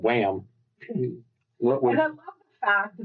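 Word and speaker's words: Wham!: I like I mean, it's called Wham. And I love the fact that Deadpool is just like, "No, you're saying it wrong. It's Wham. It's not Wham, it's Wham." How many sales Wham got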